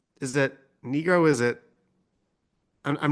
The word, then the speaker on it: Nigro: it was uh Daniel Nigro is how it's pronounced negro negro is pronounced negro D are you serious yeah